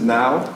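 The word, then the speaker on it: NAO: So this is Pepper, this is Now. N-O-W? N-A-O, but it's pronounced like N-O-W.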